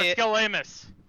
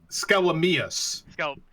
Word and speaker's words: Skelamius: Okay, Commissar Skelamus. Skelamius. I mispronounced that, not born.